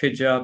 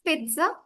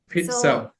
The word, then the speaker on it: pizza: how's that it's pizza pizza okay yeah we are focusing on the former syllable of it pit and then the other part is a bit I would say bland.